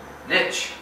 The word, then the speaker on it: niche: After you've eliminated the chaos, then we focus on niche or niche, depending on how you pronounce it.